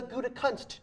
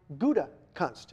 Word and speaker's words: Gutekunst: That would be the Gouda cheese, or shall I say the Gutekunst cheese, right? If nothing else, once and for all, that'll teach you how to say the Packers' new general manager's name. It is Brian Gutekunst.